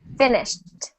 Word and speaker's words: finished: syllables which is perfect you do not add a syllable if it does not end in D or t so here's the example we have finish finished still two syllables good we don't say fined fined that is incorrect we only add the